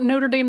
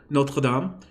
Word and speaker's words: Notre Dame: this because we're just using the actual French pronunciation complete with the oh the uvular art it's I believe in the International Phonetic Alphabet it's an upside down small capital r so it doesn't go above the midpoint of the line but